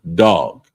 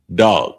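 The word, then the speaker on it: דג: So the next one is fish and it's pronounced dog. um dog and it's spelled D A G but it's pronounced dog.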